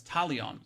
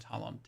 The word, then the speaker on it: Talion: That's Talion. Sorry, not Talon. Talon. I said his name wrong the whole time.